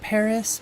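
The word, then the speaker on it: PVRIS: v r i s it's pronounced Paris but it's not spelled that way I'd say one of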